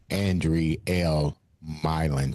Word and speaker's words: Andrielle Mylin: like to welcome to the show Indiana's own Andre L. Milin to the show. Did I pronounce her name right?